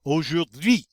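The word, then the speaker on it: aujourd'hui: o sound o u is always the u sound all right r has ah sound and the u i together y put it all together the h is silent and we come up with oh jordy and that means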